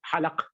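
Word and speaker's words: حلق: Halq is divided. In Arabic, we say halq. In Urdu, we say halaq, right? So this is a difference in pronunciation.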